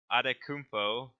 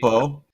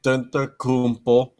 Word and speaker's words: Antetokounmpo: So we're starting with MVP, and our wheel decided to nominate James Harden, Giannis Adetokounmpo, if I can pronounce that correctly. Antetokounmpo, Yeah. Antetokounmpo.